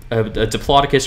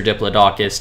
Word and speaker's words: Diplodocus: Also, Brontosaurus looks more like a Diplodocus or Diplodocus, depending on how you pronounce it.